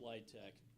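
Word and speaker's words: LIHTC: their communities thank you the low-income housing tax credit pronounced litech is the primary means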